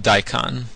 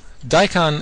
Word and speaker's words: DiCon: I'll tell you about daon daon is pronounced like the radish and what it is